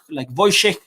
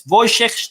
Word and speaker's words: Wojciech: And the W's are pronounced V. And they have a lot of sh sound and like Wojciech.